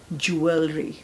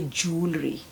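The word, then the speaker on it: jewellery: एक यह वर्ड है के ब्रिटिश कहते हैं ज्वेलरी माय ज्वेलरी कहेंगे जूलरी सो दोनों ही एक्सेप्टेबल है ओके यह वर्ड भी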